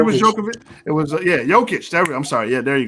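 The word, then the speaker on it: Jokić: Djokovic? Did I pronounce it right? Yeah. Number 3 was Djokovic. It was, Jokic.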